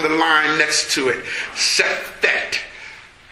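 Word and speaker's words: Sefekht: Sefekt. Sefekt. It's spelled S-E-F-E-K-H-T.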